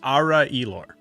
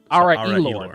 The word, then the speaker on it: Ara Elor: it's Ara Elor. Ara Elor. That's how and you you say it pronounce a little quicker than the way I said it.